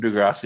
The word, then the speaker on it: Degrassi: Is it pronounced Degrassi or Degrassi? Yes. Degrassi.